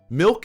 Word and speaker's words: milk: the simpliest of words Milk is with an I not an E you fucking idiot.